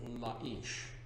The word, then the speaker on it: Laish: Or properly pronounced Laish.